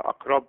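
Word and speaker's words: أقرب: O Arapça'da akrab okunur. Akrab okunur. Burada akrab biraz hemze olduğunu efendim duyurabilecek, anlayabilecek, anlatabilecek şekilde dikkatli okumak lazım.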